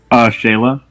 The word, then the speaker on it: Shayla: Is it Shayla or Shyla? How do you pronounce that, Logan? Shayla.